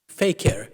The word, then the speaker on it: fakir: Posing, he added, as a fakir or fakir, as he might have pronounced it, thus laying stress on the imposture that Gandhi represented.